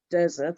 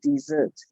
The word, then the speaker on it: dessert: I heard desert at some point. It was a mishmash. I heard dessert, I heard desert, but it's actually dessert.